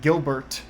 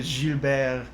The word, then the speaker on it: Gilbert: at this from english it looks like gilbert which isn't the most pretty name but jubeir rolls off the tongue and then i think